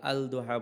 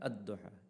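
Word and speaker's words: الضحى: আদোহা আমরা আলদোহা বলি না। আদদোহা। এখানে লামটা আমরা উচ্চারণ করি না।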